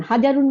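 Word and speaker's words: حَجَرٌ: না ইমাম সাহেব হাজারুন হাজারুন মানে পাথর আমরা পড়বো এখানে হাজারুন হা জবর জিম জবর রুদ্দিশ এই এই কয়টাই শুধু আমাদের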